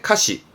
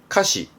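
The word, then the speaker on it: 歌詞: 그렇습니다 가수의 카슈 카슈가 4였습니다 가사 노래 가사에 카시 카시 요것도 생소할 건가 복습 가요 가요 노래 가요 발음은 가요 가요 그렇죠 학교에 교전했던 겁니다 교가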